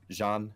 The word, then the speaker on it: Jeanne: and although I'm half tempted to just go Jenny but Jean or G an or yeah I mean just Jean French pronunciation easy way to go with it yeah yeah it's it's